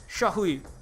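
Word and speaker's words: 社会: Sha is like pronounced, not she. It's like sha. It's not. It's kind of like the, but with that's the way that vowel is pronounced. Shahui is and hui is not. It's like hui. It's very fast. Almost like HWI, but not quite.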